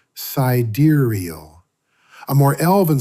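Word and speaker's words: Sideræl: Cedaro, pronounced cidurial.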